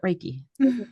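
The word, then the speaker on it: Reiki: so as a certified is it raiki is that how you say it yes that is how you say it raiki practitioner um how do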